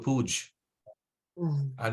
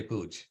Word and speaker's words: puja: to worship right and sometimes you'd hear devotees say I'm going to guru puj and they drop the a but that word pooj means something completely different right so pooj means excrement so uh we don't want to say pooj right so we want to say puja right So uh the